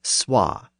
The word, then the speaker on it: swa: and The Vow so the word so was originally SWA and the number two was originally TWA of course the word